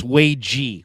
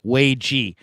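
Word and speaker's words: Waege: By the way, I believe it's Wagee. Wagee.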